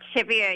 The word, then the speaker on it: Chevere: your name is pronounced your last name the French way but I don't think I pronounced it correctly so can you please let correctly the second part chevier you did it oh shave